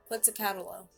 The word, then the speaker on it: Quetzalcoatl: It's like when I tried to pronounce Quetzalcoatl, Quetzalcoatl, Quetzalcoatl, Quetzalcoatl, Quetzalcoatl, Quetzalcoatl.